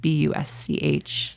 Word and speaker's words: Busch: Bush is spelled different. So Bush, Busch. Like the bear.